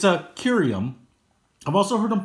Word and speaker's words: Kirium: But I've always said Kirium as the I is followed by a consonant that's followed by a vowel. So I always give it the long I.